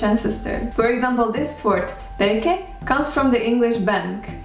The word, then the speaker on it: pēke: Okay, there is no sound b in Maori, so it is replaced by its voiceless version p. The sounds n and k become one, and the vowel is added at the end because every syllable has to be open, and we get peke.